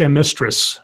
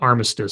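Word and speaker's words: Amestris: It's Amistris, not Armistice. For some reason, I read it as Armistice. It's Amistris. My apologies.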